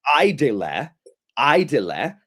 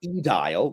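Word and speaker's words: aedile: And check how accurate she pronounces the V's as W's and the AE as I which so so this right here um so the office is quistor.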